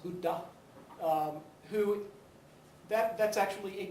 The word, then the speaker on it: Buddha: man we know of as the Buddha properly pronounced Buddha who that that's actually a title it's much